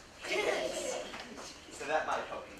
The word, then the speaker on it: Dickens: how I'll remember it because it rhymes with chicken. Dickens.